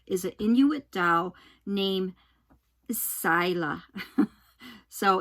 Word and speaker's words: Saila: And the doll that I'm talking about is an Inuit doll named Saila. So it's supposed to be, you know, it's not, it's spelled S-A-I-L-A, but it's pronounced Sila.